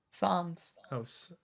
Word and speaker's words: Psalms: that still apply today Palms Psalms in the Bible it's it's spelled p s but Psalms in the